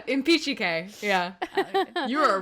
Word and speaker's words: Impicciche: Yeah, the CH makes a hard K sound in Italian.